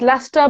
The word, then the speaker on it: Leicester: Pronounced Leicester, but it looks like Leicester.